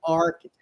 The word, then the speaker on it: architect: right so he's the architect here architect you see H sounds like K right so Arc arc Arc architect architect oh my God